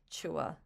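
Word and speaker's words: CHWH: I like to call the band Chua, which is how I pronounce the acronym.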